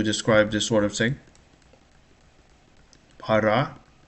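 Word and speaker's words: пара: Para. Stress is on the second syllable.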